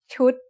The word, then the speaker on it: ชุด: What's the tone of ชุด? It's a low-class consonant with a dead syllable and a short vowel that makes it high tone.